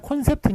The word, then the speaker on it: 콘셉트: 했느냐 오르 접근했습니다 그래가지고 그래서 콘셉트 앞에 게 맞아요 컨셉트 틀립니다 오늘 컨셉이 뭐냐 그런